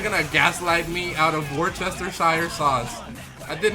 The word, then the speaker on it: Worcestershire: It's Worcestershire. That's how you spell it.